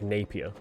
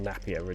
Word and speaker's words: Napier: Joker's real name is Jack Napier, or Napier, depending on where you're from and how you pronounce it.